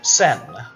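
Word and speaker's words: Seine: and do you see the sin which is I believe how you pronounce that River the banks where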